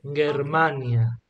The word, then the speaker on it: Germania: mhm M okay always hard G like in Gage okay Germania Germania known in Asia